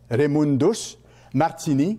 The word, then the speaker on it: Raymundus Martini: Raymundus, ça s'écrit R-A-Y, M-U-N-D-U-S, Raymundus Martini, comme ça se prononce, M-A-R-T-I-N-I.